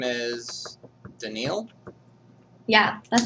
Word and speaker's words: Danille: So your name is Daniil? Yeah, that's how you pronounce it, but people also call me Dani.